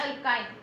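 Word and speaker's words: alkyne: Okay, क्या difference है, इधर ए है, इधर ई and then Y, अल्केन, अल्कीन एंड अल्काइन। Remember the pronunciation, don't confuse.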